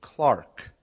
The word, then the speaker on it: clerk: he said you mean Clark and I said no I mean clerk you know he says no it's pronounced Clark and I said are